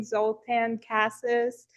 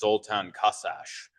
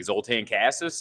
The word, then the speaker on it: Zoltan Kaszas: Uh, today I have the pleasure of interviewing Zultan Casses in person. Sorry, did I pronounce your last name?